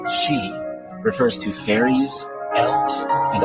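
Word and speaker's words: sidhe: the word she, pronounced she, refers to fairies, elves, and other nature spirits.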